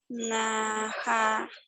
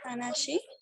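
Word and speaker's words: 話し: Perdón, es que invertiste las primeras 2 sílabas. Hanachimasu. Suaviza más la tercera sílaba, porque si dices hanachi, yo escribo esto y no está bien. Hanashi. Hanashi, ahora sí, hanashi más.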